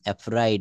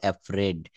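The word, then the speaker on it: afraid: থাকুক ভয় পেও না ডোন্ট বিফ্রেড এফ্রাইড আমরা এটা সঠিক উচ্চারণ করব এফ্রেড ডোন্ট বিফ্রেড আমরা কিন্তু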